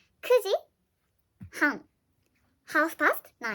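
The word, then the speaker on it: 九時: is usually nine but when you wanna say nine o'clock then you have to say kudi you don't say kyuuji kusi kuji hang half past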